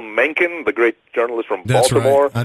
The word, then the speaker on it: Mencken: you mentioned him although I'm sorry to say you mispronounce his name but HL Menin the great journalist from